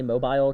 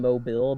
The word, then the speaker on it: Mobile: hear someone say my name, usually they say Mobile because I'm in Mobile, but we're dumb in Alabama, so we're like, no, it's pronounced Mobile.